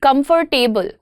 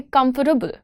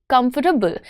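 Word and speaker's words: comfortable: कंफर्टेबल? That's not what we are looking at. What what do we want to से? We want to से कम्फर्टेबल। कम्फर्टेबल।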